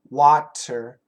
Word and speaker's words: water: r d w w of course it's not a d it's a flap T but it's very similar to a d so we go if we go perfect pronunciation water water water little bit